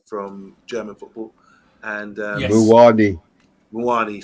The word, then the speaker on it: Muani: So they got Manani, the guy from German football, and Yes. Muani, sorry, yeah. It rhymes with Panani.